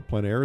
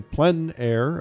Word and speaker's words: plein air: For those of you who don't know, PleinAir is a French term, essentially meaning outdoors or the open air. The French say plein air, others say plein air, but it doesn't matter how you say it.